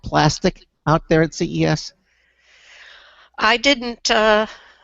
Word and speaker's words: Plastc: It's spelled actually PLASTC. No I in it. Plastic.